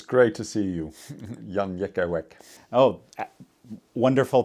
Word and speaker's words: Jan Jekielek: It's great to see you, Jan Jekielek. Oh, wonderful pronunciation.